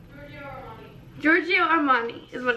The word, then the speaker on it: Giorgio Armani: It's like Gregorio Armani. Oh, Giorgio. Giorgio. Giorgio Armani.